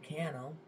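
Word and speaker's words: Cannell: I watch think media Sean canel reminds Rhymes rhymes with Channel I uh heard him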